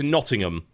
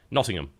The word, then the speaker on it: Nottingham: Nottingham. Everybody keeps telling me not to pronounce the H, but everybody there pronounces the H. Just really soft.